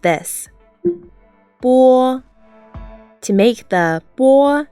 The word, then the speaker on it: 波: 波波 When you look at this letter, you may be familiar with it, but in Chinese pinyin, it pronounces bo.